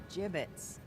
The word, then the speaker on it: gibbet: way we had some gibbets leftover jib it's what it's pronounced jib 'it's are you